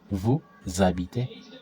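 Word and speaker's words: vous habitez: So here there's a liaison. There's a liaison and there's a liaison. So new z a bi ton. Vu z a bi te. Eat z a bi te.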